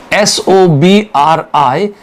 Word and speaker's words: sobriquet: They asked the pronunciation of this word, SOBRIQUET. The pronunciation of this word is sobriquet. It is not sobriquet, it is sobriquet.